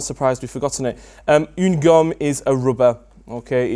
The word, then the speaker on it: une gomme: Une gomme. Une gomme. Really good pronunciation. I'm liking the U sound on une gomme.